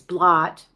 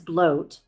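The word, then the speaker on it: blót: Um I know that it reads blot, but it it is pronounced as bloat, which is a religious ceremonial offering.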